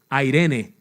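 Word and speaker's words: εἰρήνη: palabra en el original es airene que se escribe e Irene mi mamá se llama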